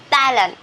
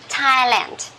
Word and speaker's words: Thailand: okay the country so uh uh we don't pronounce this one as Thailand this is T okay Thailand one more time what did you do on